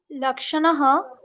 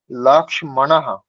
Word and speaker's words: লক্ষ্মণঃ: লক্ষণः বিদ্যালয়ম গতবান, সীতা নদ্যাতীরম গতবতী, মিত্রম অন্যত্রম গতবান। মিত্রম, গতবান হবে না, গতবৎ। আর উচ্চারণ যেটা করলেন, লক্ষণঃ, লক্ষণঃ নয়, লক্ষ্মণঃ, লক্ষ্মণঃ।